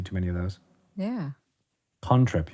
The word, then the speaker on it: cantrip: Contrip. You have to say it like that. It's conjuration. It's a contrip.